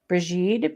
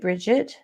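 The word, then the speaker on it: Brigid: known as bride bridey brigitte bridgette brigitta brighantia and breet as well as brett so part of that is that she's a celtic goddess and gaelic or celtic gaelic is very uh it's the pronunciations are quite different than how it's written in our english-speaking minds and so and because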